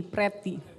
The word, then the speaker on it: Priti: Bukan Priti, Preti. Tulisannya sih Priti, tapi orang dulu nggak tahu bahasa Inggris jawabnya, jadi bacanya Preti.